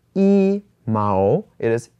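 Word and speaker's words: 一: one with one okay so one is normally pronounced as e when we only talk about the number one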